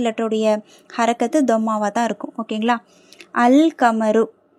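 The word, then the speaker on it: القمر: ஓகேங்களா அல்கமரு லாம் உச்சரிக்கப்படுது ஏன் காப்ங்கிறது கமரியாவுடைய எழுத்து சோ அல்கமரு அந்த நிலவு அந்த சந்திரன்.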